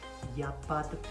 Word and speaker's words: il n'y a pas de: Il n'y a pas de problème. Basically, you kind of swallow the letter E in de.